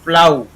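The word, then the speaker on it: plough: इसी प्रकार पी एल से प्ला हो गया, इसमें ये जुड़ गया आऊ, तो प्लाऊ क्या हो जाएगा, प्लाऊ। यहाँ पर जी एच साइलेंट हो गया।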